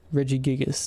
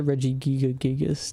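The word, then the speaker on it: Regigigas: I think it's Reggie Giga. Reggie Gigas. No, I always called it Reggie Giga Gigas, too. I don't know where I got the extra G, but Reggie Giga Gigas.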